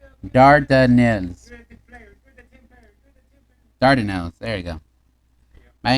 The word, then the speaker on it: Dardanelles: Pronunciation. Dardanelles.